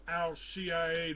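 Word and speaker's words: Al-Qaeda: Qaeda terrorist after 911 Al Qaeda that's alci is the correct pronunciation folks President Barack Obama's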